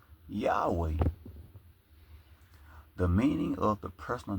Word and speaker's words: Yahweh: It also says many Greek transcriptions also indicated that Yahweh well YHW should be pronounced Yahweh.